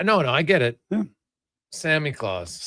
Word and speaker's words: Samichlaus: So, it's pronounced Samichlaus. Samichlaus. Sami What is this? Samichlaus. Yeah, no, no, I get it. Samichlaus.